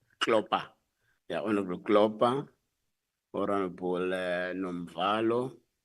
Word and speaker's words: Klopper: Honorable Kopla. Am I pronouncing it properly? Klopper. Klopper.